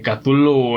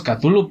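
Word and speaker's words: Cthulhu: donde venga para empezar nuestras lenguas no pueden pronunciar su nombre porque nosotros decimos catullo pero decía lo craft que en realidad no hay nadie en la tierra que pueda pronunciar sin nombre este ser se convierte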